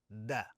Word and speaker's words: د: In fact, it's closer to the D in Spanish.